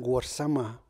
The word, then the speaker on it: Warsama: So I created the young Warsama, who is suffering in his class. Warsama is spelled as W-A-R, not war, but war, and S-A-M-E, not same.